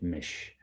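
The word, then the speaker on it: Misch: M-I-S-C-H, Mish. You could just like, if you imagine the C's not there, that's how you say it. M-I-S-H, Mish.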